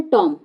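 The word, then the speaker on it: tomb: ठीक है, अगला क्वेश्चन है टॉम। क्या बोलते हैं इसको, टॉम। तो टॉम बोलते हैं, बी का साइलेंट नहीं, बी क्या है यहाँ पर, साइलेंट वर्ड है।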